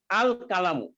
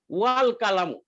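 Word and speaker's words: الكلام: হামজাতুল ওয়াসলি, হামজাতুল ওয়াসলির ধর্মই হলো শব্দের প্রথমে থাকলে সেটার মধ্যে কোনো হরকত থাকবে না, কিন্তু যখন উচ্চারণ করতে হবে তখন আ উচ্চারণ হবে আ। যেমন এখানে আল কালামু, আল কালামু, এটার উচ্চারণ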